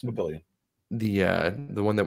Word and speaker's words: Papillion: they're like is that Papillon oh Pi p-i-o-l-l-i-o-n or something like that and Papillon they thought the L's double L's was a y sound in Spanish no it's Papillion the uh the one